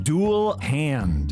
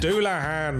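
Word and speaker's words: Dullahan: Dual hand. Doulahan.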